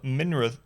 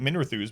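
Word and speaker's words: Minrathous: inquisitions of higher learning the circle of minrath how do you pronounce it i always i've always pronounced that minerathus but apparently i was wrong is more than ten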